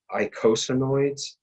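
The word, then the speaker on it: eicosanoids: of amino acid-based or steroid-based this word is pronounced icosinoids and it's e-i-c-o-s-a icosanoids these are leukotrienes and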